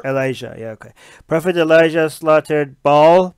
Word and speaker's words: Elijah: and you've always saying profit how do you pronounce his profit he l IJ aah Elijah Elijah okay prophet Elijah slaughtered ball priests yeah mob